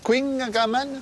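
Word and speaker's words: Kouign-amann: he rapport à l'étymologie comment ça se prononce quingaman ah ben comme ça j'aiécritingaman c'est un gâteau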